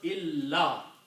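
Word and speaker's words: إلا: So this word was illa. Okay? So again, this actually alif is written, is not being pronounced much anyway. This is just a helper to pronounce la.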